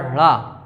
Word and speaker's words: ढ़: ड़ा और ढ़ा इनका उच्चारण होता है। पढ़ाई कढ़ाई में जो ढ़ा आता है वही।